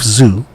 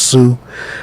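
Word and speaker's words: Szou: were veto his wife zoo and i'm spending like that because i know it's supposed to be pronounced sue i bet you her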